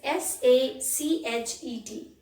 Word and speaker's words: sachet: The first word is S-A-C-H-E-T. That is sachet. Sachet. T is silent, CH is pronounced as Sh.